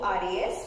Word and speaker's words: Honduras: Though we mention as Honduras, but it pronounces Honduras. H will be silent in that particular case.